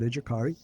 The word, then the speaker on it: Educari: our educar uh educari campus uh we do pronounce it educari uh it's from the uh Latin means actually